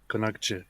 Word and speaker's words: Konakçı: How do you say this I that's not dotted? AP. What on earth is that? That's an sound. So it's Konaksu or something. Yeah, it's like Konakçı.